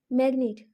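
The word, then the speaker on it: magnet: ठीक है, जैसे देखते हैं मैग्नेट। ठीक है, तो इसमें जी साइलेंट नहीं है।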